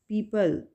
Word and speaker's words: people: The next word is पीपल। पीपल, यहाँ पे ओ right करेंगे लेकिन यहाँ पे प्रोनाउंस नहीं करेंगे ओ को।